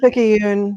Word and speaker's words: Picayune: the the nola times picayune is that how you pronounce it picky picky yoon yeah yeah um so this